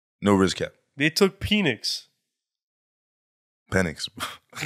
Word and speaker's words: Penix: Bro, so they took penis. Penix. Penix. Penix. Michael Penix. Penix, please. You can pronounce it how you want to pronounce it, bro. I'll pronounce it the right way, bro.